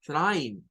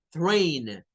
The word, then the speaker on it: trainer: el vocablo del tren pero no se dice Prime se dice trainer porque el diptongo y del inglés suena a Ey entonces cuando va a